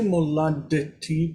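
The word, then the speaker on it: מולדתי: We say moladeti because when you have the two sounds that are the same D and T, they're the same sound.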